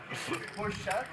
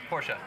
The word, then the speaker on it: Porsche: the factory bro like I got to say it right Porche Porsche is German that's that's what they say but it was kind